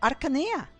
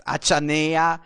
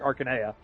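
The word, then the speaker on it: Archanea: Now you can go to Aranea. Going to go to Arana. And it's always with a K sound because I see some people pronounce it as Achanea and I just die.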